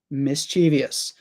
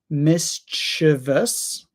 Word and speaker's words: mischievous: Yeah, so Merriam-Webster Dictionary tells us that you can pronounce it either mischievous or mischievous. Both of them are very common. So mischievous or mischievous.